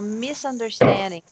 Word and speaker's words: misunderstanding: Mas tá vendo aqui no Tio Fonetics, isso é com som de S, né? Misunderstanding, é. Esse no inglês americano, né? Então, misunderstanding, né? A sílaba tônica é essa. Misunderstanding. Então, eu tô falando isso em voz alta para eu lembrar de falar com som de S, não de Z.